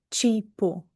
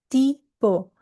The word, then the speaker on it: tipo: Por que que eu não posso dizer presente ou tipo? Não, la pronuncia correta presente e tipo.